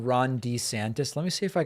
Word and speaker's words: DeSantis: it bony Ron desantises it appears he changed the pronunciation of his own last name over the past few years to better align with what the polls were telling him voters preferred I'm not kidding watch